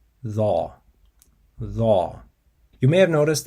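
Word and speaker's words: ظ: So again, it's dha, dha.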